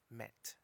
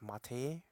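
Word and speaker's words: matte: out for wallpaper commnet ma TT e met it's not pronounced as Matty Matty or whatever is comment so this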